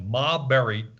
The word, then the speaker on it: Maberry: that temptation it's m-a-b it's like ma berry connected but it is pronounced